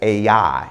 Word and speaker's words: Ai: you we pronounce that word a i as a i it is spelled a i it is known as a